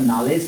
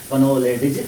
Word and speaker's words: knowledge: इसका नॉलेज पढ़ा जाता है, कनोलेडिज नहीं पढ़ते हैं।